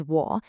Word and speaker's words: 我: The character is wo, and the Pinyin tells you to say it wo with that dip and rise tone.